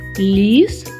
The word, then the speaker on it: ліс: У слові лис? Приголосний л вимовляється твердо. А в слові ліс він інший, м'який. вимовляється ніжно і лагідно.